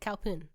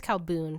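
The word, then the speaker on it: Khao Poon: I think it's Calboon. Sorry, Calboon. guys. I said it wrong in the video. I think I got crap for it. It's Calboon. Okay.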